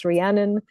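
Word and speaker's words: Rhiannon: Um so it's spelled this way uh looks more likewar um in uh when we spell it the Welsh way. And of course, Rianan um and Bioith um that's how that is pronounced.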